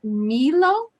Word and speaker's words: Milou: a guest it is the pronunciation of your of your name is milo milo okay um i always